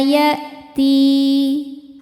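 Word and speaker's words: يَأْتِي: Yauma ya'ti. Ti mad tabi'i zahiri karena ada ya sukun sebelumnya kasrah. Cara bacanya dipanjangkan 2 harokat.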